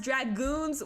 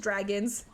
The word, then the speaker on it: Dragoons: Wait, just a heads up, it's Dragons. You know what? I asked him. I said, is it Dragons? Dragoons? What is it? And he said, no, it's just Dragons.